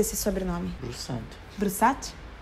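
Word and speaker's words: Brusatte: Como você pronuncia esse sobrenome? Broussard.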